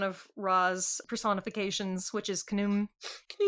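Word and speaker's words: Khnum: So apparently this is one of Ra's personifications which is kum. Kum rhymes with kaboom.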